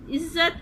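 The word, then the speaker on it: عزت: इज़्ज़त अगर हम इसको प्रोनाउंस कर रहे हैं तो हमें आइन के नीचे जे और इज़्ज़त, जे की साउंड 2 दफ़ा आ रही है तो जे के ऊपर आएगी तशदीद और इसके ऊपर आएगी ज़बर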